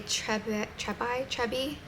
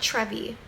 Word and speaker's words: treubii: And it's a Trebi. I want to call it Trevi, but it's not Trevi.